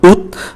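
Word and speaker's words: août: đặc biệt, đó là tháng 8 có bắt đầu bằng ký tự A và ký tự A này không phát âm, do đó chỉ còn OVI và tháng 8 phát âm là út, và đây là trường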